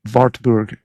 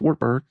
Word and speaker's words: Wartburg: And so Wartburg would be the pronunciation there. But in Morgan County, Tennessee, it's Wartburg because that's what it looks like.